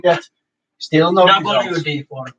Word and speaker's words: WD-40: All are cleaned, BD40, stuff like that. Still no results. WD-40. You have to say it correctly.